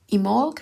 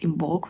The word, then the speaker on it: Imbolc: For a long while, I thought that it's IMBOLC with the B, but I keep hearing people omitting the B and just calling it IMBOLC.